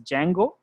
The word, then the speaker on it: Django: There is one library called Flask, and there is one more library called Django. So D is silent here, guys. So we call it as Django, but write it like this way.